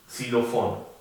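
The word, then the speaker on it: Xylofon: La X se llama X y se pronuncia prácticamente como la del español, como X. Xilofón.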